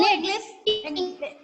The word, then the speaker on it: knit: नो, Knit. English क्या होगा? निट, ma'am knit। KNIT. KNIT, Ma'am, knit. KNIT. So which letter is silent in this word? Knit, K.